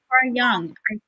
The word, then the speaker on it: Jung: it's pronounced Jungian okay it's Carl Jung so young don't have to yeah